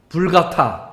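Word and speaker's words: Vulgata: 그 구약 히브리어와 헬라 신약을 라틴어로 번역한 게 이 불가타, 라틴어로는 불가타고 영어식으로는 벌게이트라고 읽습니다.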